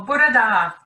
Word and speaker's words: bore da: Well, bore da would be this morning.